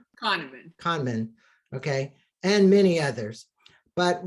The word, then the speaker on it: Kahneman: Kahneman, okay, and many others.